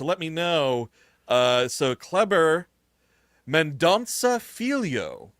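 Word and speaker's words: Kleber Mendonça: Uh so Clever Mandansa is how you say his name.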